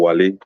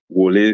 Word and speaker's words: Wole: Is it Wole or Wale? Wole Soyinka, right? He lacks wisdom, you know. Whether you like it or not, I see Wole Soyinka's, what is happening to Wole Soyinka right now as a very pathetic.